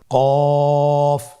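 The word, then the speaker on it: كاف: নম্বর হরফটির নাম কাফ কাফ উচ্চারণের ক্ষেত্রে অবশ্যই পাতলা করে উচ্চারণ করতে হবে এবং তিন আলিফ টেনে পড়তে হবে।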